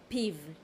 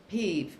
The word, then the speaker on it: פיו: How do you pronounce his mouth? פיו, את פיו. Peeve.